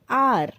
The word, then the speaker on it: hour: Then we can see an hour. An hour is different. It will be, notice that the word are, honest, etc. begin with a vowel sound as the initial consonant H is not pronounced.